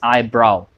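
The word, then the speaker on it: eyebrow: इसी तरीके से हम आईब्रो बोलते हैं, that is नॉट आईब्रो, that is आईब्राव, नो कि ब्रो। आईब्राव सेम साउंड है जो नाव में यूज़ होता है, आईब्राव, नाव।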